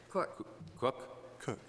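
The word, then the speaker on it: Kueck: The next position is a social worker position, district-wide, William, and I probably will mispronounce this name. Cook. You should see K- it's spelled K-U-E-C-K.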